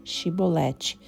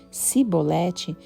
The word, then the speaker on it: chibolete: Se respondesse que não, diziam, então diga chibolete. Se você dissesse cibolete sem conseguir pronunciar corretamente a palavra, prendiam-no e matavam no lugar de passagem do Jordão.